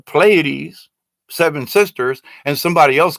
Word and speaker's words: Pleiades: If an ET, if they have been telling me for years that it's Pleiades, seven sisters, and somebody else comes up with Pleiades or some kind of weird different pronunciation, it's